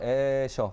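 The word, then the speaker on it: Escher: 사실 유명한 화가 판화가 에셔 혹은 에스르라고 발음을 하는데요.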